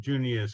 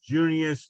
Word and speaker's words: Junius: I wasn't gonna say anything, but seeing as you invited me to speak, one little error that you're making in the pronunciation of Junius Hokan.